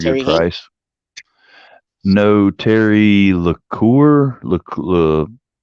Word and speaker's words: Lecouer: No, Terry LeCoeur.